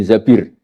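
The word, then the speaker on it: الزبير: Kemudian saya nikah sama Abdurrahman bin Zabir. Di hadis ini bukan bacanya bukan Zubair, tapi Zabir. Abdurrahman bin Zabir.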